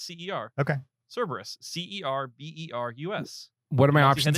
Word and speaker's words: Cerberus: He pronounced it wrong. Cerebus? Cerebus? No, Is Cerberus. it Hmm. Cerebus? That's Cerberus. CERB? Hold on. What is it? Is it Cerebus? No, it's CER.